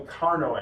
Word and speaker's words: Carnot: It's called a Carnot engine. It's French, so we don't pronounce the T.